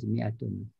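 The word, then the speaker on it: مائة: Macam ni lah pronounced as mi'atun. Walaupun ada alif kita tak pronounced. Okay. This is how it's spelled. Walaupun you don't pronounce, kita sebut mi'ah ya.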